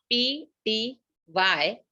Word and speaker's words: ptyalin: is also called as ptyalin. The spelling of ptyalin is P-T-Y-A-L-I-N. The P is silent, so we call it as ptyalin.